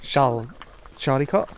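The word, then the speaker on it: Charlecote: called charlie kate park that's how it's spelled child cot i think it must be like charlie cot charlotte charlotte it's just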